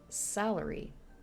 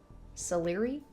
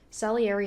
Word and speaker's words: Salieri: Salary. Salary? That's probably not how you pronounce it. Salieri? Salieri? Salieri? I'm guessing because Antonio Salieri.